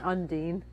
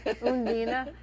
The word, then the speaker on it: Undine: The movie is Undine. I'm going to pronounce it like the Germans do Oh. because it sounds so much more romantic than Undine. Yes. Undine.